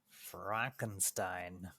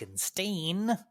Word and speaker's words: Frankenstein: G to say Frankenstein Frankenstein not pronounced Frank Franken stain the answer 20,000 Leagues Under